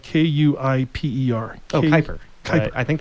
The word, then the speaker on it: Kuiper: It's spelled Kuiper.